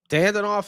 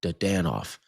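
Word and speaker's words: Dadonov: Dandonoff as well. Dadanoff. I always say it wrong. Dadanoff. I always say Dandonoff instead of Dadanoff.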